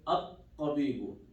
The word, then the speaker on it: الطبيب: I did not pronounce the alif, I did not pronounce the lam too. Right? Because, here, let me write it. ذهب no hamza. There's shadda here. Okay? No hamza here. If it's connected, I'm not going to pronounce it. Lam here. There's shadda here, I'm not going to pronounce this lam.